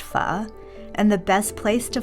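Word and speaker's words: phở: someone asks where they can find the best foe i chuckle with dismay and my answer is always the same it's pronounced pha and the best place to find it is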